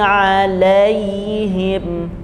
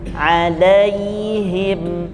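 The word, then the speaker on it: عليهم: tidak ada di buku setiap dia sukun itu ketika diawali oleh fathah maka dibacanya ada penekanan ada Lin mengalir ayyu ya ayyuhalladzina amanu ghairil magdubi alaiim alaiim jadi ada penekanan kata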